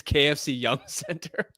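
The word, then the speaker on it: KFC Yum! Center: No, you obviously don't you obviously don't pronounce the exclamation mark in it, but it's KFC Yum Center.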